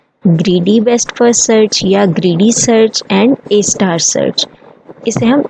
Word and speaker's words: A*: इट is pronounced एज ए star.